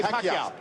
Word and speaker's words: Pacquiao: Pacquiao. Say Pacquiao.